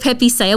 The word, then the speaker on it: Pepe Saya: Is it how do we pronounce it even? So it's called Pepe Saya.